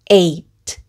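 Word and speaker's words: eight: 여기 서 GH 는 묵음 이므로 바로 T 발음 으로 넘어가서 " 에이트 " 라고 발음 합니다 .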